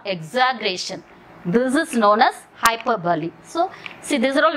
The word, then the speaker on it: hyperbole: See, the spelling is hyper, hyperbole. But you have to pronounce that not hyperbole, hyperbole. Remember bahubali, hyperbole.